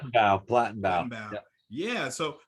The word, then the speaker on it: Plattenbau: Am I pronouncing that right? Plattenbau.